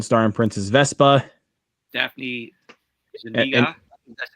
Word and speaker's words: Zuniga: Daphne Zuniga, that's how you pronounce her last name.